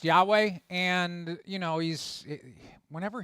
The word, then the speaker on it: Yahweh: But anyway, um it's pronounced Yahweh.